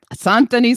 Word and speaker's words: Saint-Denis: Saint-Denis sounds good to me. Oh, how do you say it? Saint-Denis. Saint Denis. Yeah. I was trying to be more French.